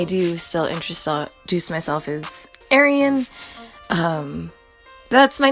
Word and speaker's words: Eirian: I'm here for it that's just not how I say my name I come from rural Montana where we say Crick and wassh and all that good stuff so I'm sticking with Ary an because that is how